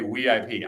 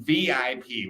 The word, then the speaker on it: VIP: you clubbing in China I don't have any sympathy for the Chinese inability to pronounce v because it exists in Chinese dialects okay Shanghai has it right it's there Chinese people just say weip I'm saying VIP when I have to